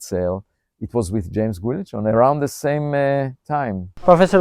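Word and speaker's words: Guillochon: And it was a 2015 paper with you and James Guilichon. Right, that's how you pronounce it.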